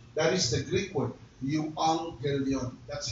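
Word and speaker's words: εὐαγγέλιον: The word gospel comes from the Greek word yong gilion. That is the Greek word yuang gilion. That's how they pronounce it.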